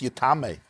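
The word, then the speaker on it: יטמא: We're talking about the Rabbi Akiva who told us that when it says Yitma, it's pronounced Yitma, but it could have been pronounced Yitame, which means that the Torah wants you to include Yitame in the interpretation of the pasuk.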